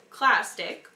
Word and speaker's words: clastic: Okay, so, and then the rest of the word is clastic, which rhymes with plastic.